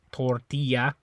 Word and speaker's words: tortilla: tortilla tortilla okay and notice how this one in English the way you pronounce is a little bit different right in Spanish it's tortilla Spanish you say tortilla tortilla so tortilla tortilla this is a little teeny bit different there and I think